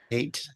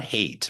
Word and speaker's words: Haidt: Um I want to switch gears for a second because you found some information from Jonathan Haidt, Haid, if I'm pronouncing that well. Haidt. It's not hate, but it's Haidt's.